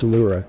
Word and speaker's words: Ellora: The word Ellora is pronounced Ellura, ancient German Ellura, El, meaning God, and Ur, means origins, or source.